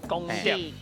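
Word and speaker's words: 光碟: 啦，啊，這上好是叫文讀音來念做光碟。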